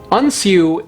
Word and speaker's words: Unshiu: Unshiu is actually the Japanese pronunciation of the Chinese characters for Wenzhou.